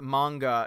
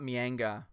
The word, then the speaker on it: manga: Mech says, it's pronounced as manga, not mianga.